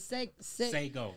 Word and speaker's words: Sago: Sago. Sago. Just S-A-Y, take the Y off and just.